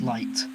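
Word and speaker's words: Leit: yes for the avoidance of Doubt uh is pronounced light uh because light is short for light Motif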